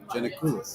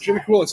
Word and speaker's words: Giannakoulis: Yep, Giannakoulis. Giannakoulis.